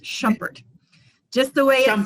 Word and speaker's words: Shumpert: are the only ones of us and it's pronounced shumpert just the way i'm spelled i went from